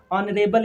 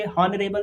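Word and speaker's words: honorable: लेकिन बात तो सही है, जो सच है वो सच है, ऑनरेबल ही बोलेंगे, हॉनरेबल बोलना बिल्कुल गलत है।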